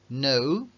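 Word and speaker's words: knew: que el color Blue lo mismo les va a pasar al saber reconocer New or nude si aquí la k tampoco suena Nel que suena igual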